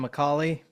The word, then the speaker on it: McAuley: Is that how you pronounce your last name, Macaulay? That's right, yes. Like Macaulay Culkin?